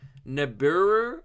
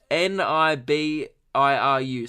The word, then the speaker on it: Nibiru: phoebe fo b so i don't know what i'm talking about there it's spelt ni b iru so I'm gonna go with Nibiru Nibiru Nibiru I don't